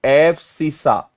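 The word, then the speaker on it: abscissa: और इसको हिंदी में इसको प्रोनाउंस क्या करते हैं? एब्सिसा।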